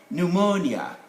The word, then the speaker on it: pneumonia: a closed syllable now when letter p stands in front of this consonant they normally they are normally dropped from the pronunciation they are there in spelling they shouldn't be here so we get phrases